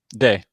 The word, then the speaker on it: Dey: Dey or Die? Day. Day, got it.